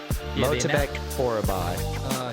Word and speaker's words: Myktybek Orolbai: Myktybek Orolbai.